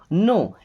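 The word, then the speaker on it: know: नो, इस नो word को ध्यान से देखिए, यहाँ पे के और डब्ल्यू दोनों साइलेंट लेटर्स हैं, यानी इनको उच्चारण नहीं किया जाएगा, प्रोनाउंस नहीं किया जाएगा।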